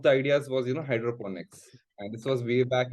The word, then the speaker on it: hydroponics: Hydroponics mean so Hydroponics a lot of people uh actually mispronounce it as hydrophonics but Hydroponics so it's basically Hydro